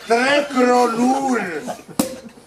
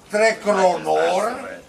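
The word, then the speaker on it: Tre Kronor: Slyšte, Trekronur, jednoznačně mluva tam u řeky Joty. Zatímco slyšte, Trekronor, to je Malmö, silně ovlivňované nedalekým Dánskem.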